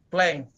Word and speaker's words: plang: bukan plang kalau di di tulisannya memang plang Tapi bacanya plank bahasa Inggris kan apain ditulis lain penyebutannya Jadi saya Saya maunya